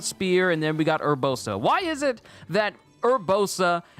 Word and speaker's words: Urbosa: we got mifa spear and then we got urbosa why is it that urbosa is the weirdest